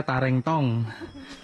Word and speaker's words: Tarentong: Bacanya apa itu Pak? Tareng apa tareng? Tarentong. Tareng. Oh, yang bener bacanya Tarentong.